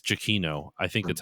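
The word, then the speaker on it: Giacchino: I've always heard it as GCino. So, Gino. Um, oh, so according to Wikipedia, it's Jakino.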